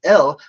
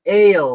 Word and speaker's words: El: This in Hebrew is literally not pronounced L, but Ale, like A-L-E, right? Like you drink ale.